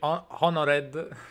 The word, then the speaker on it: honored: Thank you, very honored. Honored, bravo. Honored. Yeah. So we never pronounce the H, but we're gonna pronounce the H in the only word that doesn't need it.